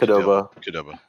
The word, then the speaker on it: Qdoba: How do you say it? Qdoba? Qdoba. I love Qdoba. So it's literally as stupid as it looks. but Moe's Mexican Grill?